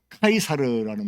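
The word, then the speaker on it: Caesar: 자, 이 시저 아시죠? 우리말 성경에는 가이사로 나오는 가이사, 이제 카이사르라는 말이 더 맞는 말인데, 이 말을 영어식으로 읽게 되면 시저라고 읽어요. 시저.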